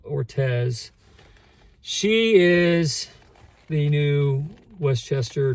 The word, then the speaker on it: Ortiz: I think you say her name. Amanda Ortez.